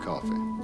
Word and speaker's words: Coffey: Your name is John Coffey. Like a drink, only not spelled the same.